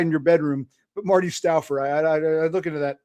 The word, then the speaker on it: Stouffer: It looks like Stouffer, but it was always pronounced Stouffer.